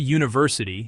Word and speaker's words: university: The word university starts with the letter U, but the sound is Jew, a consonant sound, so we must use a.